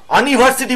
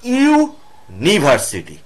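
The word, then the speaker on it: university: ইউনিভার্সিটি খেয়াল করে দেখো ইউনিভার্সিটি কথাটা বলতে গেলে কি হচ্ছে ইউ আনিভার্সিটি বলি না কিন্তু ইউ দিয়ে শুরু হওয়া সত্ত্বেও আনিভার্সিটি ইউ এর উচ্চারণ আর তা না কিন্তু ইউ এর উচ্চারণ ইউ হচ্ছে ইউনিভার্সিটি তাহলে ইউ কথাটা প্রথমে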